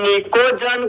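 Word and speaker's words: pnicogen: जहां पर निकोजन का जो दोस्त आपका फर्स्ट लेटर जो आपका पी है वह आपका साइलेंट होता है।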